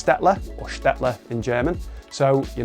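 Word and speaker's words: Staedtler: I was finally able to learn how to pronounce their brand name so it's stetler orler in German so you know even if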